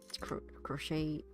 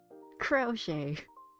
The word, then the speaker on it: crochet: Like, wait, okay, let me just crochet. Pronunciation. It's crochet. Oh, you guys can hear that as well. Crochet. I'm sorry. That's the British pronunciation. American is crochet.